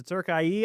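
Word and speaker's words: Türkiye: when I learned out that Turkey had changed their pronunciation to Turkie.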